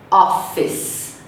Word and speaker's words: office: Em inglês, são 2 sílabas. A gente diz office.